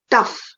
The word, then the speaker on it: tough: animals in a farm tough in the column for tough the words that sound the same are rough and enough these two also rhyme with puff and the main word